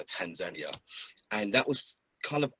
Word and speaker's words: Tanzania: time in tanzania and i say tanzania because over there they accentuate the second syllable of the the name so tanzania and that was kind